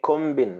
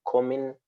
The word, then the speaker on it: combing: i'm combing my hair ordinarily you are supposed to say kombin right because there is a b but you don't pronounce the b you have to say i'm combing my hair it's the same thing